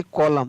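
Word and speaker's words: column: SOLEMN सोलम, CONDEMN कंडेम, तो यहाँ पर भी N है वो साइलेंट, तो यहाँ पर भी इसको पढ़ेंगे कॉलम, क्या पढ़ेंगे? कॉलम, N नहीं पढ़ा जाएगा।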